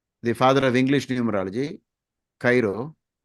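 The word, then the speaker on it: Cheiro: The father of English numerology, Cairo, some people pronounce it as Shiro.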